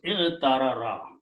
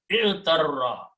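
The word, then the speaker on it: اعترّ: So this becomes i'tarara, okay? Or two ras together can be pronounced with a shadda, so it becomes i'tarra, i'tarra, okay?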